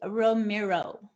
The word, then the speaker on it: Romero: So tell me a little bit, Romero. Did I pronounce that right, first of all? Yeah, it's Romero.